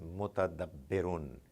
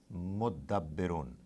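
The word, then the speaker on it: مُتَدَبِّرُون: Sometimes Arabs, they find it more convenient to pronounce it instead of mutadabbirun, mudabbirun. Don't be confused. You'll get used to it. This ta gets attached to the. They merge and they give the sound of two dals.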